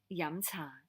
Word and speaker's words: yum cha: of fried foods so if you want to say it correctly in cantonese with intonation it's so it's that mid-rising theme and then some so yamcha and so what's the